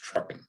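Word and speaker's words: TRUKN: five letters for example the spelling of the tr ukn departure is pronounced truckin the stars on the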